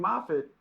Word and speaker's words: Moffatt: But it's actually pronounced Moffat.